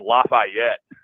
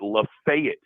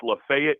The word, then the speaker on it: Lafayette: this you know I've always known it as Lafayette and in Old Miss I'm sure you knew Oxford is in Lefayet County it's spelled exactly the same but they pronounce it Lefayet County yeah it's not Lafayette commun that's how communists pronounce it just they